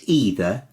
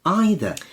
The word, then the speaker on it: either: asked is is it either or is it either or neither or neither what do you normally say